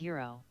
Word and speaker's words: gyro: the Greek pits sandwich it's spelled Giro pronounces yo pronounced yo my friend uh uh